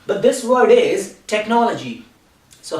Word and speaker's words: technology: like to tell you it is not technology because normally people make this mistakes and they say this word like technology but this word is technology so how do we